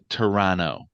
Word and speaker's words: Toronto: the t is silent Canadians don't pronounce the T at the end oronto it's terrano make sure you pass